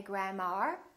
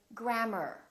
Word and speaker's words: grammar: in words like grammar don't say grandma say grammar or e AR for